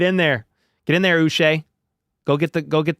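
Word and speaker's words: Uche: tra trade for Joshua us rhymes with bu that's how I got to remember it it's not uch it's um yeah you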